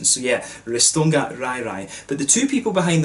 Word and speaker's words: RajRaj: i'm pronouncing that right this pronunciation is going to cause me trouble in this video because you know raj in scotland we say raj and that means you know a crazy person or someone that's very angry so i want to call this brewery raj raj but i think it's it's right right if we use the swedish pronunciation so yeah ristonga rairai